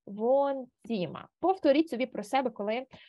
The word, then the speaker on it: Wohnzimmer: Ось тут у нас є літера Г. Читається у нас по літерах В, Г, Н. Ось це Г ми не читаємо, а подовжуємо О. Das Wohnzimmer.